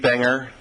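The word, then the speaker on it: Bunger: to ventur County thank you very much Brer and I apolog olizee if I got your name wrong wouldn't be the first time oh well the handwriting thank you supervisors um Banger and U that's okay it took me about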